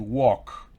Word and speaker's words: walk: No, la L no se pronuncia, to walk. I walk, you walk.